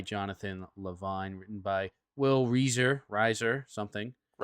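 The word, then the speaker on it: Reiser: And And speaking of expanding our brains, today we watched the movie 50/50, directed by Jonathan Levine, written by Will Reaser Riser, something. Riser.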